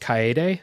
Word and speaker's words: Kaede: The next one, I believe it's pronounced Kaede Smith, is a Japanese Kaede woman.